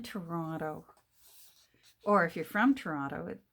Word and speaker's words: Toronto: where that is but if you want to sound like you're from there if you ever visit just call it trauna there's only one tea at the beginning in toronto instead of toronto yep